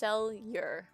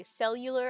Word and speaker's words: Seleur: To start off, his name is pronounced Seleur. Don't worry, everybody gets it wrong. Multiple people say cellular at first.